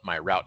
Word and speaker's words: MyRoute: we would call it my route app uh this this application is actually developed in I believe the Netherlands so uh as they pronounce it it's my root app um but uh you